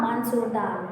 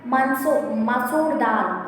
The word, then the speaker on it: masoor dal: Udal dal, moong dal, mansoor dal. Okay na? See, once again pronunciation is very important na. Urul dal, moong dal, masoor dal.